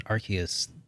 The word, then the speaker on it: Arceus: a game like arceus i said it right arceus but with a game like arceus though i